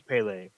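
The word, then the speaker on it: Pelé: and then last we have uh I believe it's pronounced Pele um I can't speak Portuguese so I believe it's pronounced Pele uh could we put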